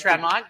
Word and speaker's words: Tremont: I'm going with Tremont it's the tront $150,000 Tremont today we're going with a long e we're going to get